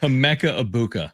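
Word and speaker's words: Emeka Egbuka: Emeka Ibuka. Emeka. Yeah. Is how it's pronounced.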